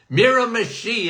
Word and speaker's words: Miramichi: No, it's not. Miramichi is how you say it.